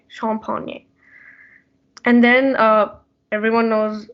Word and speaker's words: champagne: then uh and then there's champagne it's pronounced as sean pony like you have to continue with the e sound like shawn pony champagne and then uh everyone